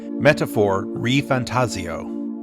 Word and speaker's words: ReFantazio: it's now confirmed that the proper way to pronounce the title of this game is indeed metaphor re fantasio up until now I've been saying fantasio because